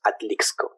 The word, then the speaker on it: Atlixco: yeah i born in this place that calls atlixco i'm going to spell it oh my god yeah because i know